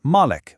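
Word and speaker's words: مَلِك: Some people recite it as Malik, with a long A sound. That means owner. Others recite it as Malik, with a short A sound, which means king.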